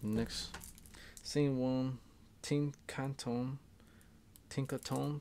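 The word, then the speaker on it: Tinkaton: same one team Canton Tinker tone Tinker tone that's how you say it take the four bucks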